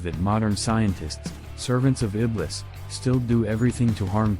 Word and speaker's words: Iblis: to Satan in Christianity Iblis emphasis on the second syllable is the Supreme demon